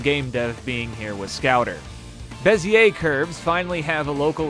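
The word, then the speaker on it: Bézier: Apparently, it's pronounced Bezier. I I looked it up and Okay. Bezier curve.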